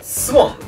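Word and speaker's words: 水原: に、水原と書いてスボンでしたかね、と読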